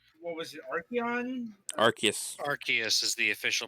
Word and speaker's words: Arceus: to use because it's arceus and japanese yeah i'll show you an arceus presumably this name was edited because they didn't want to have arse in it yeah yep anyway this